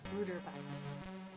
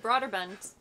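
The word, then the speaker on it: Brøderbund: Bruderbund. Yeah, because we watched some videos recently of somebody pronouncing it. I'm like, that's not the way I ever pronounced it. I always said Broderbund.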